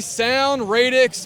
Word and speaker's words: Sound Radix: we are at the sound radix booth that I pronounced that right that's correct all right and who